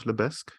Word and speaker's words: Lebesgue: Where can people find more out about Lebesk? Where can they find you? App is available on Shopify App Store, so you can just Google Lebeg Smarter Marketing. Lebeg is spelled LEBESGUE, something like that.